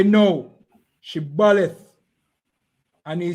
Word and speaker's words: Shibboleth: All right, say Shibboleth. Say the word Shibboleth. No, because they know that the Ephraimites them can't pronounce the word right. They say Sibboleth.